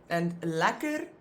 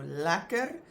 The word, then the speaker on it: lekker: And lekker, the first one, I pronounce the first one as that American A, so lekker. And the second E, I pronounce as a. So there you go, one of those words that it's very often not pronounced phonetically like E.